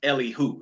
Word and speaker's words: Elihu: So his name is pronounced Elihu. Sometimes you look at it like, okay, how do I pronounce that? Elihu.